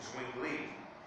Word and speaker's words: Zwingli: How did he pronounce that? Zwingli.